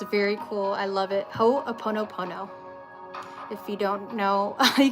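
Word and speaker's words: Hoʻoponopono: H-O, there's apostrophe, ho, o-pono, O-P-O-N-O, opono, and then pono again.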